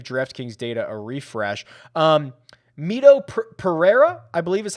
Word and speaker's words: Mito Pereira: have to give draftkings data a refresh um mito pereira i believe is how he pronounces it is 100 and let me just